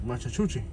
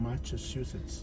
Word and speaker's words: Massachusetts: Machachuchi. No, it smells like scrambled eggs. The car in front of us is from Massachusetts. I said it right.